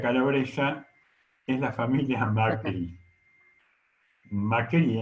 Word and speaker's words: Macri: Macri, en realidad en Calabria, tiene un acento en la I.